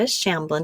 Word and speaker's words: Shamblin: have a guest on and this is Rebecca shamblin did I say that right Rebecca welcome yes